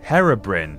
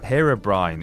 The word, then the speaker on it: Herobrine: you nightmares number eight Hera Brin herobrine it it people pronounce it differently okay as if a